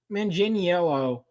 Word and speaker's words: Manganiello: Manganiello.